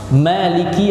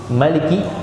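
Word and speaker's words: مالك: Mimnya itu pendek. Tapi kalau qiraat kita, yakni yang masyhur di dunia ini qiraat Hafiz an Asim. Qiraat Hafiz dari Asim. Itu bacanya pakai mad. Bacanya pakai mad, Maliki.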